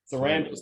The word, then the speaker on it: Sarandos: Meanwhile, Ted, is this, how do you pronounce it? Sarandos, thank you, has been very adamant in his defense of Dave Chappelle.